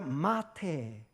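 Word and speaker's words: מטה: 있는 지팡이 따라 볼까요 마테 마태복음과 비슷하죠 발음이 마태 이 언어의 u 입니다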